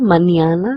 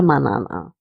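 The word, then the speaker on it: mañana: the squiggly line and the squiggly line gives us the impression that we need to pronounce this letter as nia. So it's aasta manana and not aa manana.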